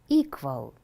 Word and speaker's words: equal: no the same now listen equal equal how many syllables are there there are two syllables where is the stress the first syllable there is a sentence